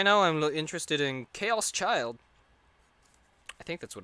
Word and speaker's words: Chaos Child: In terms of anime that I'm interested in right now, I'm interested in Chaos Child. I think that's what it's called. Chaos Chirdo. That's how I would pronounce it in Japanese.